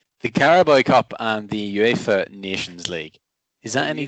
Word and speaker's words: UEFA: i think even with my my scottish accent uefa is surely the way that it should be pronounced not not wafer like like a wafer biscuit anyway the cowboy